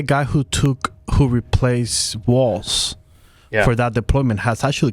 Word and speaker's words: Walz: Tim Waltz said and I've heard it pronounced walls or Waltz like a like the dance which is correct do we know do